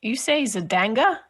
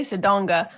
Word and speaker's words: Zodanga: You say Zodanga? Zodanga, yeah. Zodanga. I say Zodonga. Zodonga. Zodonga.